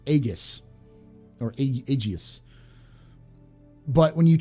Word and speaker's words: aegis: why i always say aegis um is because in latin the a and e is an a so in latin when